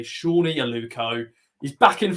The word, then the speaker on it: Sone: let's talk then about Sony oh no Shawnee aluko I'm still I'm still saying that I'm sorry um ever since we got corrected to say his name correctly Shawnee and Luco is back